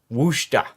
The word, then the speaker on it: Worcester: It's not Worcester. It's not Worcestershire. Worcester is the way that I've been told is how you pronounce it.